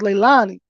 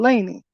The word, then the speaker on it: Laney: responsible as Little Annie because that's her name I heard the babysitter say it like that I thought it was Leilani with his little Laney so is Billy Joe